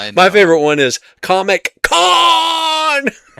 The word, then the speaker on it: Khan: You should go back and actually watch the original one that introduces Montabon as uh as Khan from the TV series. You're saying it wrong. It's Con.